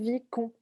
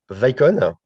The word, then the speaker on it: Vicon: Pour le scan du mouvement, est-ce que vous utilisez un système Vicon? Pardon si je prononce mal. Euh, alors, Vicon, Vicon, Vicon, ce pardon.